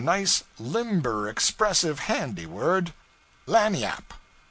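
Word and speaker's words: lagniappe: limber expressive handy word lanyap they pronounce it lanny yap it is spanish so they said we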